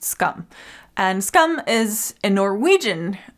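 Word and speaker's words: Skam: And I used to pronounce it Scam because that's how it's spelled, but I think from listening to it, I think it's pronounced Scum.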